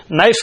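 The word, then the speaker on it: knife: جاتے ہیں۔ مجھے بتائے نائف کے اندر شروع میں کے ہے نہیں، وہ فضول ہے یا ہے فضول؟ کیا کارآمد ہے؟ لکھنا پڑے گا نا، لیکن تلفظ میں تو نہیں آئے گا۔ اور واک اور ٹاک،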